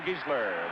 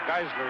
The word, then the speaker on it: Giesler: Gary Zara, number 69, the other guard, and John Giesler, the offensive tackle, or Geisler he pronounces it, and Mark Smergy is the tight end, number 82.